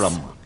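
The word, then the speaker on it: Herem: Her name is spelled H-E-R-E-M. Is that right? Yes. Harem.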